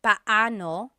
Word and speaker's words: paano: just a pronunciation tip it's technically paoo when they're two Vo or when they're two vowels together you say them separately but but when speaking quickly Filipinos just say p now let's practice